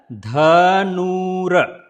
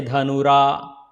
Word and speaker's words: Dhanura: Then it is a Dhanura. Don't say dhanura. The tongue between the teeth. So it is a dha sound, not dha sound.